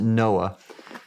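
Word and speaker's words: NOAA: And so when I for example when I was with the National Oceanic and Atmospheric Administration we've pronounced it Noah uh that uh we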